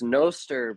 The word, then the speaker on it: Nostr: This is why I just keep the dual pronunciation because it's like it's noster because it's notes but then it's like I'm not going to say froster.